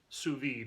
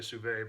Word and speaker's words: sous vide: But before we get started, there's a lot of questions out there about sous vide is actually how you pronounce it. I always say sous vide, but it's sous vide.